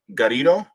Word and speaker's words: Garrido: marks l gari garrido it's uh just think about it as burrito but with a G that's right Corrido okay